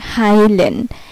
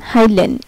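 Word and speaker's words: heilen: যদি কোনো ওয়ার্ডে ইআই একসাথে থাকে তাহলে এর উচ্চারণটা হবে আই। যেমন এই যে হাইলেন, এইচ ইআই এল ইএন, হাইলেন, এইচ ইআই, যে ইআই,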